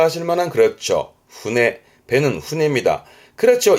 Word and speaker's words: 舟: 배니까 일본어로는 여러분 다 아실 만한, 그렇죠, 훈해. 배는 훈해입니다. 그렇죠. 이 한자 말고 이 한자를 많이, 요게 배선자인데 요거를 주로 우리는 접하게 됩니다. 둘 다 배인데요. 보통 앞에 배주자, 요 훈해의 경우는 작은 거, 지금 그림처럼 작은 거를 쓰는 편이고요.